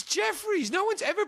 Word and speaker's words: Jefferies: It's Jefferies. No one's ever pronounced that Geoffrey, you fucking...